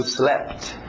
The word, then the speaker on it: slept: Passado, slept. Slept. Engole esse P. Slept. I slept at. O T bate no at.